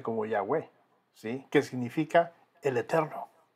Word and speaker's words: Yahweh: Recuerdan que les dije, son esas 4 letras del alfabeto hebreo, una Y o Y, la H, la W y la H nuevamente.